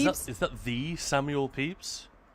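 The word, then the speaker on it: Pepys: Yeah, it's pronounced Peeps. But that is that is that the Samuel Peeps?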